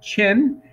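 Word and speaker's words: Qin: important one too uh q i n pronounced chin and that's actually where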